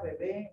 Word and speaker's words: bebé: La segunda bebé lleva acento en la E, porque dice bebe, de beber, ¿verdad?